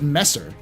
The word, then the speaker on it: Messer: not calop yes no I know you pronounce it Messer but I'm going to call it mezer because it's funnier it's